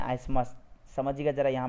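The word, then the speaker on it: isthmus: देखिए इसमें टीएच को साइलेंट करके पढ़िएगा आप लोग। ठीक है, इसको आइथमस मत पढ़ दीजिएगा, इसको आइसमस पढ़िए आप।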